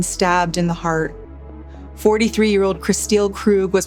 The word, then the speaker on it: Kristil: 43-year-old Christile Krug was pronounced dead at the hospital.